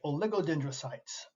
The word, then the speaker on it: oligodendrocytes: finally we have the oligodendrocytes I know it's a long word just sound the word out it's spelled as it sounds oligodendrocytes these cells form myelin